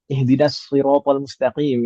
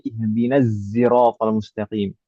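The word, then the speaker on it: اهدنا الصراط المستقيم: Yang saya tahu misalkan ihdinasiratal mustaqim itu kan pakai shad ya. Iya. Ada qiraah yang membacanya pakai sin dan pakai zai. Ihdinasiratal mustaqim. Ada juga yang pakai zai ihdinaziratal mustaqim.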